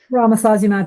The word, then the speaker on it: Romosozumab: But yeah, I presume that new osteoporosis drug that I'm not even going to attempt to pronounce is high tech, is it? Romosozumab, yes, it is.